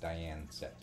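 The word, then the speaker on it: Dian Cecht: e c HT and it was pronounced Dian set yeah I know that's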